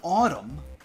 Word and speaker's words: autumn: a lot in this in Autumn the N is a hundred percent silent because the N is not doing anything but being silent okay but for a